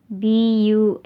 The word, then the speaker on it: Bundok: B-U-N-D-O-K.